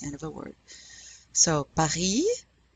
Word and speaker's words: Paris: And notice that we're not pronouncing the S in Paris or the T in Robert, because careful, generally, only the consonants C, R, F, and L are pronounced at the end of a French word.